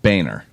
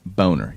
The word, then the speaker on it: Boehner: pronounced so like John Boehner the House Republican okay it's not Boehner there's a freaking oh in your name it's a boner your name is Boehner